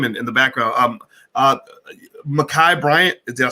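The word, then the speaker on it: Ma'Khia Bryant: give her name in the background um uh makai bryant did i say it right yes uh her family pronounced her name her aunt uh who was in a video uh pronounced her name is makai bryant she was 15 years old these are our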